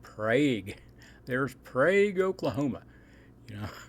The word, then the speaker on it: Prague: they okay it looks if you read it it looks like Prague okay but this is Oklahoma so they pronounce it PRA there's Prague Oklahoma you